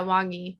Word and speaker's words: Wang Yi: In 2018, when Wang Yi was arrested. Is that how you say it? Wang Yi? Yeah, Wang Yi.